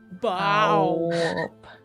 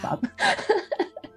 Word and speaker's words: Baw''b: Oh, Bow. Bow. It's pronounced Bob. I feel like that's a regional accent thing, and I'm here for it.